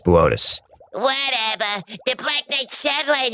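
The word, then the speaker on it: Boötes: Booties. Boötis. It says booties on the teleprompter. It's pronounced Boötis.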